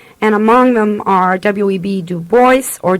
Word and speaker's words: Du Bois: Du Bois, or Dubois. I am never sure how we should pronounce his name. Dubois seems to be the correct name, but it seems to me we use Du Bois, so however it is, excuse me.